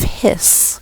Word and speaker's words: His: through this which is called the bundle of hiss even though it's spelled H is the electrical current will